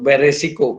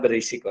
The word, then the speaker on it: berisiko: Tapi nggak ada masalah pengucapannya, sudah sangat biasa kita mengucapkan beresiko, padahal berisiko.